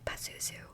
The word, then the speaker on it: Pazuzu: So it's P-A-Z-U-Z-U, Pazuzu, I think. I just feel like there's no other way to pronounce that, Pazuzu.